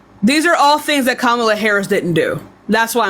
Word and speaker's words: Kamala: First of all, honestly, I feel like they only brought Kamala. That's not how you pronounce her name. Kamala.